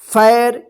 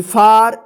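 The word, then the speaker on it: far: क्यों हो रहा है, चलिए इसका रूल्स हम देखते हैं कि जब किसी वर्ड में ए के बाद आर रहता है तब ए का आ उच्चारण होता है।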